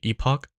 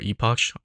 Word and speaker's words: Epoch: And a pretty good, technically another Econ augment would be Epoch, or Epoch, whatever you want to pronounce it, since it gives you XP and 2 free rerolls.